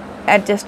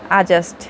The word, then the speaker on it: adjust: সারা জীবন পড়ে এসেছি অ্যাডজাস্ট করে অ্যাডজাস্ট করে অ্যাডজাস্ট করো আসলে হবে আজাস্ট এখানে ডি উচ্চারণ হচ্ছে না আজাস্ট আমি খুবই সরি